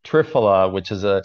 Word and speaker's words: triphala: never heard of it um it's is it pronounced trafalia is that how you pronounce it it's triphala which is a it's basically a combination of